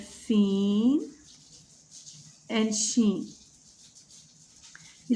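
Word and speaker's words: س: But Seen is a light letter and Sod is a heavy letter. Sod is a heavy letter. It is pronounced with more emphasis, but Seen is pronounced lightly.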